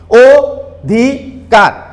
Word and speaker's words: অধিকার: আমরা শব্দটাকে উচ্চারণ করছি, ও ধি কার। এখন অ এর উচ্চারণ ও এর মতো করছি, আমরা খেয়াল করলে বুঝতে পারবা, অ এর উচ্চারণটা কিন্তু আমরা ও এর মতো করেছি, ও ধি কার, ও ধি কার।